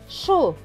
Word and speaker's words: chose: Normalement, le S et le E devraient se prononcer se. Mais là, vous voyez, avant le S, il y a le O. Après le S, il y a le E et le O. Et le E, ce sont deux voyelles. Donc, le S va se prononcer Z. Donc, le mot va se lire chose.